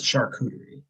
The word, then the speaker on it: charcuterie: how to pronounce that i don't want to mispronounce it boys on the weekend for my mental break it's charcuterie charcuterie that's right okay charcuterie boards that's really